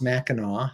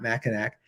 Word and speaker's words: Mackinac: It's all spelled Mackinac, not Mackinac, or pronounced Mackinac, not Mackinac.